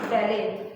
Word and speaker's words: ballet: These are called ballet dancers, and you can see the T here as we are not pronouncing it as ballet, okay, or ballet. It is pronounced as ballet.